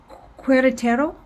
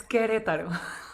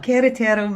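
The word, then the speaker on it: Querétaro: to get this right cuerratero do i have that is that right am i saying that right almost because the u is silent so it's queretaro queretero there we go queretaro mexico and she's coming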